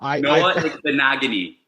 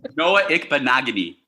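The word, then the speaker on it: Noah Igbinoghene: But I mean, in general, I mean, you had Bethel out there, and how do you pronounce the kid's name? Good luck. Noah Ikbenagany. Bless you. What? Noah Ikbenagany.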